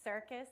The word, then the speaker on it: CRCS: I want to thank circus which I just learned right now is the way that you uh pronounce the crcs I really appreciate that